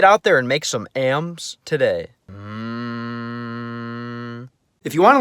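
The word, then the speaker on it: м: In the cerillic context, the letter is called am.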